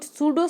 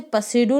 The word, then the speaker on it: pseudo: तो ये जो सूडो सैटेलाइट है, इसकी स्पेलिंग होती है PSEUDO। तो इसे पसेडो नहीं पढ़ेंगे हम, क्या पढ़ेंगे? सूडो पढ़ेंगे।